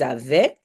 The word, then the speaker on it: avaient: Ils avaient. Now watch out, if it's plural, it's not just AI, but it's AIENT. Very long, a lot of vowels. Just pronounce like eh.